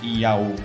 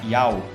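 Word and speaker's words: ΙΑΩ: Porque alguns pronunciam essas 3 letras Iá-O. Só que essa letra ômega aqui tem som de O longo, então não vai ficar exatamente Iá-O, vai ficar Iau.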